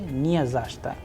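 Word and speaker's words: не за что: be like that but when we use mention not we say zashta zashta because the udarin or the stress sign is on Z near zashta.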